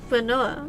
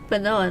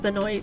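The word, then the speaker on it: Benoît: It's pronounced Bonoa. Oh, okay. Sorry, I don't French. Benoa, not Benoy.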